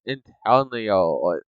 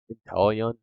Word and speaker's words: Inteleon: Now, next one here is my favorite newest starter that they added with Gen 8, and that is Inteleon. Is that how you say his name? Inteleon?